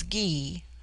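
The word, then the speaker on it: Gy: The word for woman is gee pronounced hard as in guy. It forms itself into ja for the plural but the g becomes soft in the plural like j y- ei.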